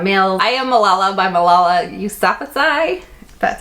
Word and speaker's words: Malala Yousafzai: Tucker, Famous in a Small Town by Emma Mills, I Am Malala by Malala Yousafzai, that's how you say her name, The Cinderella Rules by Donna Kaufman, Beautiful Beep by Christina and Lauren, Splintered by A.G.